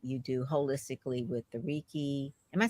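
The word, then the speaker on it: Reiki: the combining what you do holistically with the Riki am I saying it right am I sayik yeah raiki raiki yoga and the sound bows and I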